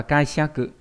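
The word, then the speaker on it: 解釈: Ví dụ trong từ giải thích đọc là, chữ thích sẽ đọc là kaiseku, ví dụ giải thích sẽ là kaiseku đây.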